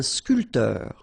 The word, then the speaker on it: sculpteur: All right, so un barman, un sculpteur. Same thing here. This P here is not pronounced.